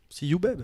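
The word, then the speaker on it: Sehubabe: qui s'appelle See Who Babe. See you, babe. See You Babe. Mais ça s'écrit S-E-H-U-B-A-B-E. Sehu Babe.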